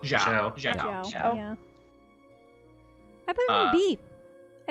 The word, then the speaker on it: Xiao: Xiao? Zhao.